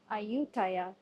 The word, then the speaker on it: Ayutthaya: All right, so we have arrived and it seems like I've been pronouncing the name wrong all along. I've heard some locals uh say it and it's actually called Aayutaya.